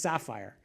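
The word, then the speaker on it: SPhyR: if I'm supposed to, is it sapphire or sphere, or how are you supposed to say that? Sapphire, all right, it's pronounced sapphire.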